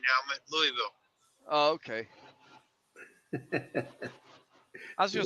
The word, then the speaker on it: Louisville: at you're right d he said it wrong again it's Louisville yeah it's Louisville they don't like trucks